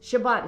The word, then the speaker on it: Shabbat: Shabbat is how you say it in Hebrew.